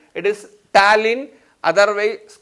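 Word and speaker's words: ptyalin: enzyme thaline see here the pronunciation is different and the spelling is different it is talin otherwise called as amelie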